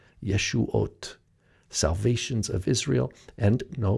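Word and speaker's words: ישועת: ooh sound but novav same exact word pronounced exactly the same yeshuat salvations of israel and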